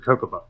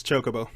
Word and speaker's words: Chocobo: all actually there's one how do you pronounce jokobos jokobo or is it kokoba it's chocobo that's a bow it's chocobo yeah it's a c right